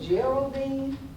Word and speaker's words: Geraldine: It's spelled Geraldine, but they pronounced it Geraldine.